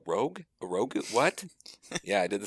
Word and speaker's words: Rogue: it was for rogue i pronounced it in my head rouge for years for years and then suddenly it clicked and somebody said it the other way and i was like a rogue what yeah i did